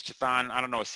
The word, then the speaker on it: Chthon: a character named chathan people say kathan I say it's chathan I don't know CH